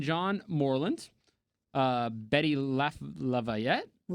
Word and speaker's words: LaVette: Yeah, that's what how that pronounced. Uh, Patterson Hood and John Morland. Uh, Betty Laf Lavette.